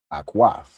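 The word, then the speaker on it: אָחוֹת: Akwaf.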